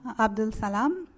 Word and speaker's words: Abdulsalam: I'm going to get you to uh state your full name and spell it please for the record. My name is Abdul Salam.